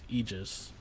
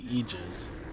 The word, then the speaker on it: Aegis: A lot of people pronounce it Aegis, but the real pronunciation for, like, the token is Aegis. Like imagine, like, E, and then Jizz. Like, Aegis.